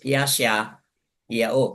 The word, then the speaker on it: Yashayahu: But sa Yehudyat, basahin po natin as Yashayahu.